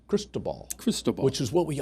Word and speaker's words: Cristobal: So crystal ball, I don't know. I saw a post. It's French, and so for the French pronunciation, apparently, is Cristobal.